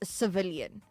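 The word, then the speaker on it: Cviiilyn: i i i l y n and it's pronounced civilian right and I I I can't understand I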